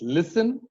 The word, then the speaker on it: listen: If a word ends with S-T-E-N, the T goes silent. Christen, fasten, it's listen.